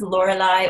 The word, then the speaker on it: Lorelei: A lot of people have name fear trying to pronounce it, but it's Lorelei or Lori.